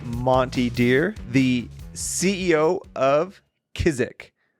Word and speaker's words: Kizik: Because I don't want to put the wrong emphasis on the wrong syllable. Fastest. It's Kizik.